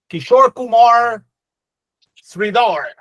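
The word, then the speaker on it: Kishor Kumar Sridhar: I I need to pronounce my Rs a little bit better when I'm pronouncing. Yeah, you you said it. You said it. You pronounced it just right, Santiago.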